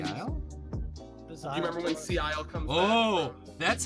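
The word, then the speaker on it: Szayel: Do you remember when Sea Isle comes Oh, back?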